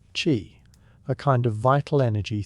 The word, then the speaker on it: qi: At the center of it sits the idea of qi, pronounced qi, a kind of vital energy thought to move through the body along unseen pathways known as meridians.